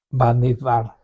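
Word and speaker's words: במדבר: Bamidbar, por fin ya lo pronunciamos bien, ya que vamos a cerrar, ¿no Estamos es cierto?, terminando ya.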